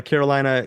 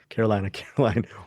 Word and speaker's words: Carolina: Yeah, it's written and directed by Carolina Cavalli, right? Exactly, not Caroline, but starring Benedetta Porca Guglielmino and Chris Pine.